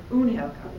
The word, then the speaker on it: Unhelkar: Unhelkar. No, how do you say it? Unhelkar.